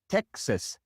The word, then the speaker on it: Texas: The same with Texas, Texas, or Oaxaca.